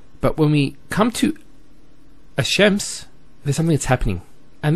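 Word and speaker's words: الشمس: So it's Ash-Shams, not Al-Shams. Because notice when you say Al-Shams, it's not smooth. Rather than Ash-Shams, which flows and is nicer to hear.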